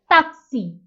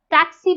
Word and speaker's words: taxi: same but it becomes taxi taxi you will notice that i am not saying but i am saying there is no ter in spanish so taxi becomes taxi taxi that's a taxi for